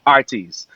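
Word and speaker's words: Heartease: from a place called Artis and um Jamaicans for some reason don't pronounce the h if it starts off with a a word so it's h-e-a-r-t-e-a-s-e but the you know Jamaican Way is Artis you know so nothing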